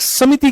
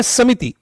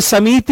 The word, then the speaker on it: समिति: यह "समिति" है, "समिति" नहीं। इसका उच्चारण देखिए। दोनों में लघु 'i' स्वर हैं। ये लघु स्वर हैं। और छोटे स्वरों के उच्चारण में एक बीट का समय लगता है। यदि आप लघु 'i' और दीर्घ 'ee' के उच्चारण की अवधि को बराबर कर दें, तो लघु और दीर्घ स्वरों के बीच क्या अंतर रह जाएगा? कोई भेद नहीं रह जाएगा।